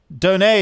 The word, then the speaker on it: Donat: Donay is a great word. Great word ends with a silent T. Luke Donay, give me one other word that ends with a silent T.